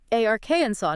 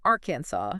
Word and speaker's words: Arkansas: Three syllables and the stress is heavily on the first. Arknaw. Arkensaw. Not aransaw.